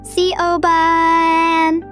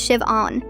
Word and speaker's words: Siobhan: She was over pronouncing the H like she was spitting it out. See Oan.